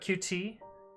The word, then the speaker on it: Qt: heard good things about qt uh i think it's actually pronounced cute now that i think